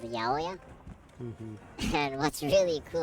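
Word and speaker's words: ヤオヤ: and people nicknamed the 808 Yaoya because 8 can be pronounced Ya, and 0 can be O, and so Yaoya.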